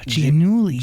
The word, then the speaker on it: Giannulli: Okay, it's Olivia Giannulli. Oh, Giannulli. Yeah, it's Italian. Ooh. But I think I even pronounce it wrong. I think it's supposed to be like Giannulli.